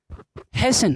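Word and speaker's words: hasten: यहाँ पे टी होता है साइलेंट। क्लियर है। नेक्स्ट आपका है हैसन।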